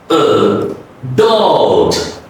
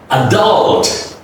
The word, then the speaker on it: adult: The first is reduced. The next U is stretch. Adult. Adult.